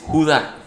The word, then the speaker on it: Judá: dicen los expertos que la pronunciación de este nombre o sea como se pronuncia este nombre en hebreo y en griego es Judá me adelanté un poquito